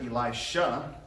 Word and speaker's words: Elisha: You have number 2, the Shunammite woman's son, and that was the successor of Elijah, Elisha, just a different sound at the end there.